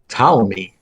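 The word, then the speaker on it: Ptolemy: um the name play this week is talami and it's spelled PT o l m y and I bring talami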